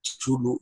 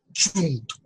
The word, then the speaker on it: Cthulhu: momento en el que pronuncian el nombre de Cthulhu, lo pronuncian Chuntu, y se quedó traumatizado.